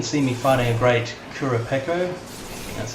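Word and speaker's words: Kurupeco: here you can see me finding a great kura pekko that's how you say it i'm using pretty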